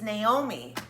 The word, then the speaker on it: Naomi: No, wait, Naomi. It's Naomi. Oh, it's spelled. Sorry, it's Naomi. That's how she says her name.